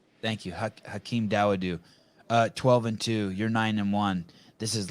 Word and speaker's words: Dawodu: Dawodu, I think is how you say it. Thank you. Hakeem Dawodu.